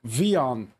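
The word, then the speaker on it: WION: And Taha Siddiqui, Paris bureau chief for, do you pronounce it? World is One News, Vion. Vion.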